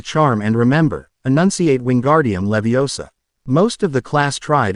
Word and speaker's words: Leviosa: Besides, you're saying it wrong. It's<unk> Levio saw nod. Leviosa. You do it them if you're so clever.